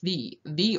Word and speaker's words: ye: But here the Y-E is not a ye, it's the Y is representing the thorn, so it's the old shop. So if you go somewhere and you see ye old shop, please feel free to point out to them, if they're pronouncing it ye old shop, that they're pronouncing it wrong.